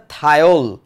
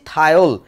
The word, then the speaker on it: Thiol: কি হবে তাহলে, থায়ো যোগ অল, একসাথে বললে শব্দটা হবে থায়োল। আবারও বলছি থায়োল, ইংরেজিতে বানানটা হচ্ছে এরকম, THIOL।